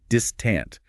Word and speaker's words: distant: Dream has that long E sound, and distant has the emphasis on the first syllable, distant, with a short I in the second syllable.